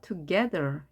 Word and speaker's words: together: A에 힘이 생겨서 together 이렇게 발음합니다.